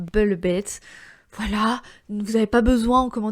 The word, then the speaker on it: Velvet: Et oui, je dis Red Velvet parce que je le dis en version coréenne, parce que le V n'existe pas en coréen, donc ils disent Velvet.